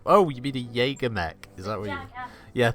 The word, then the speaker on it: Jaeger: friend of my brothers he was calling it Jagger Mac for years gonna call it Jagger Mac